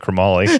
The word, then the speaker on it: chromoly: chromoly the FYI yeah the rest of us pronounce that chromoly yeah crumbly what is chromoly by the way we call it chromoly if you want it's a chrome alloy is it okay so